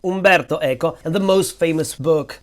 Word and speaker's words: Umberto Eco: Umberto Echo and so here is how to pronounce his name Umberto eeko Umberto Eko and the most famous book by Umberto EO